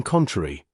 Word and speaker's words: contrary: and first syllable the and in contrary on the first syllable con.